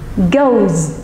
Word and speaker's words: goes: Còn những cái từ mà kết thúc bằng đuôi o thì chúng ta sẽ không phát âm đuôi s, es là is mà chúng ta sẽ phát âm là z. Ví dụ, chúng ta có động từ go và chúng ta sẽ đọc là goes khi chúng ta thêm es, goes.